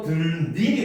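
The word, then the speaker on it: 들일: 그래서 들과 일이 합쳐졌을 때 니은이 첨가돼서 들릴이 된 거야.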